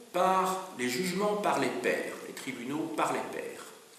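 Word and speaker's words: pairs: par les tribunaux par les jugements par les pères.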